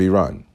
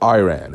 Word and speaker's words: Iran: Dela 28 from the UK says Skype was a well-known platform to a lot of Iranians living outside of Iran or Iran as Americans mispronounce it.